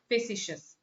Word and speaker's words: facetious: That's how it is pronounced, facetious.